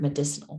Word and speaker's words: medicinal: at the end so that's why you pronounce the c as a s sound so it's medicine but we use it to make the word medicinal medicinal plants alright so medicine